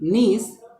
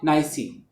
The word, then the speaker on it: niece: Instead of saying niece, she said nicey, nicey.